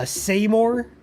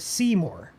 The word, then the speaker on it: Seymour: Uh, Semore, like saying more, but people also call it Seymour.